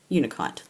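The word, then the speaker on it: unakite: that I got some ukonite is that how you pronounce it unicite unicite that's how you pronounce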